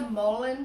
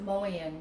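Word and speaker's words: mullein: um this is a mullin plant m-u-l-l-e-i-n sometimes i pronounce it mullion just because i want to fully feel the the the letters in my mouth because i love this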